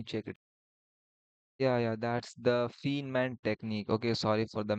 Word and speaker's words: Feynman: Yeah, that's the Feynman technique. Okay, sorry for the mispronunciation.